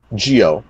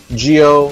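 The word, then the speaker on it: Gio: Capcom, Geo, and it's spelled G-I-O. So MVC, Geo, the M and the G are capital.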